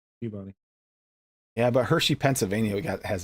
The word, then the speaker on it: Peabody: It's Peabody, Massachusetts. Peep. Not Peabody. Peabody.